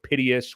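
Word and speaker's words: Piteas: I know Piteous, which is the correct pronunciation of that DEX aggregator.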